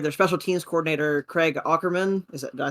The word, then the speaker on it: Ackerman: The Titans fired their special teams coordinator, Craig Ackerman.